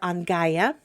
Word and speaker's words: Angeyja: And I will again attempt to pronounce their names and then spell them for you. Their names are Angaya A N G E Y J A T